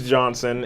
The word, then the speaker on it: Johnson: Because Johnston nobody knows or Johnson? It's Johnson, and Okay.